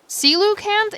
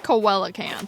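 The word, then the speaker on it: coelacanth: Celucanth is like the stupidest pronunciation ever. So, I'm sticking with Coella because mine sounds better.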